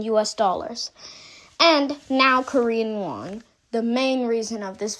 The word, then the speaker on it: won: It's won. Exactly like that.